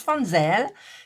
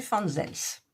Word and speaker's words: Fansells: Alors, moi je prononce Fanzel, mais en fait ça doit se prononcer Fanzels, je pense.